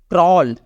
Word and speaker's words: crawl: तो यहाँ पे ए का जो साउंड है वो साइलेंट हो जाएगा, इसका उच्चारण हमारा होगा क्रॉल।